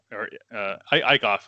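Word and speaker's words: Eickhoff: addict Jared a cough hi cough is how you say it Jared I cough well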